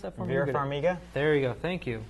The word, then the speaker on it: Vera Farmiga: Pronounce that for me. Vera Farmiga.